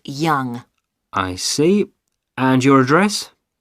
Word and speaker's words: Yonge: That's spelled Yonge. That's Young.